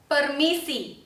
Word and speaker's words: permisi: 听到了，它绝对不是送气的哦，它不用送气，所以不可以念成 permisi，不对哦，也不可以念成 tunggu，也不可以念成 kami。我们听一下正确的发音。